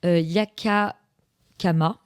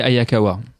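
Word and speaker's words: Hayakawa: il mè c'est Renoir de Chi Yaka Kama. J'espère c Ayakawa. Et ben écoute, merci de merci de me reprendre sur la sur la prononciation.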